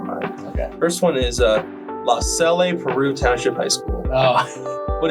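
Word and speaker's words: LaSalle-Peru: First one is La Salle, Peru Township High School.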